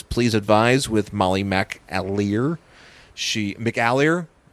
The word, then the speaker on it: McAleer: McAleer? That's how you say it, I think.